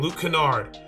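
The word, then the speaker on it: Luke Kennard: it all right here we are right here Luke Kenard Luke Canard sorry I said it wrong Luke Canard this is a really good jump shot right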